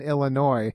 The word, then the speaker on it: Illinois: What we do know is there's no noise in Illinois, as the saying goes about pronunciation, but we can't despise the day of small beginnings.